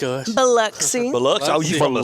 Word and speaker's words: Biloxi: Biloxi. Biloxi. Oh, you from the south part. Uh-huh. And it's Biloxi. It's not Biloxi. For all you northern people here don't know how to pronounce it.